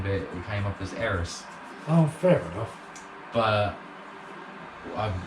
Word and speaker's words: Aerith: it came up as Aeris. Oh, fair enough. But I admit, when I was a child, I used to pronounce it as Aries until I got a bit older.